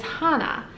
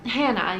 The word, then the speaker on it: Hannah: My third name on the list is Hannah, or Hannah, you can pronounce it either way.